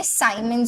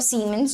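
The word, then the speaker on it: Siemens: आईटी इस मोर और इसी को ही हम लोग साइमन भी बोलते हैं जिसको आप ऐसे दिनो करते हो ठीक है साइमन और सी मिंस जो भी आप चाहे प्रोनाउंस कर सकते हो ठीक है अकॉर्डिंग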